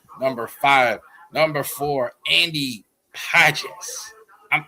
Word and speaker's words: Pages: Number four, Andy Pes. I'm I'm so tempted to honestly say Andy Pages, but that's not how you say it. Andy PZ for the Dodgers as well.